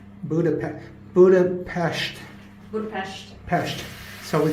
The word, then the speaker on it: Budapest: So, it's spelled P E S T at the end, but they pronounce it P E S H T for all my um geography friends.